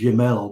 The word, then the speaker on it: Gemmell: Or is it Canadians often pronounce it as Jamel, but I think it's Gemmell in British.